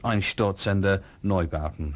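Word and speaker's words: Einstürzende Neubauten: And this is Ein Sturzender Neubauten. And somebody told me that my pronunciation of this is improving every time I do it.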